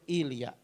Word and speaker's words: Ilya: Bacanya itu Ilya.